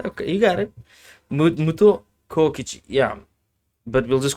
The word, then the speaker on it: Kokichi: Sometimes I look at myself and I'm like, I can't pronounce names, even though I speak English. It is Kaokichi. Kaokichi. Oh, Like okay, Kokichi.